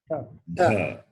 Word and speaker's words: dha: The Some people are pronouncing the Mahaprana as though it is Dirgha. It is not Dirgha. There's no point in stretching it. Stretching will not become Dirgha. How can you stretch a consonant? Consonant cannot be stretched because consonant itself cannot be pronounced independently. And how can you stretch it? But 2 matras, 2 units of time. No. So say dha. That's all. Da. Dha. Now dha is Mahaprana.